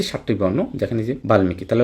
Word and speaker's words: বাল্মিকি: তাহলে ল আছে ল ল থাকলে উচ্চারিত হবে বাল্মিকি চিন্ময় তাহলে ন আছে সম্মান ম আছে যখনই সাতটা বর্ণের সাথে মফলা বসবে অবশ্যই অবশ্যই কি মফলা উচ্চারিত হবে তাহলে বাল্মিকি দেখেন বাল্মিকি উচ্চারিত হয়ে গেল আধিকার অস্বীকার হয়ে যাবে